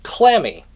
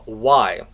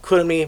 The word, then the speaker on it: Chlammy: In fact, her name is actually Clammy. Chlammy. You know, like your hands get clammy, that is how her name is spelled and how it sounds westernized. Personally, I do like the pronunciation of Kurumi much better, but Clammy